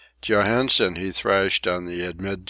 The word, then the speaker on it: Johansen: or three times with wolf Larson of the pronunciation of his name Johansen he thrashed on the admit ships deck the